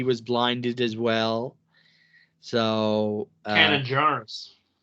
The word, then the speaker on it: Kanan Jarrus: So Canon Jarrus. Or is that how you say his name? Canon? Kanan Jarrus.